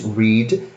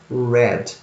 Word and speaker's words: read: They write the same way, guys, but the pronunciation is different. So in the present is read, and the past is read.